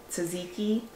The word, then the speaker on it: tzatziki: the salmon s for Jen and then the Tzatziki oh you said it right oh I did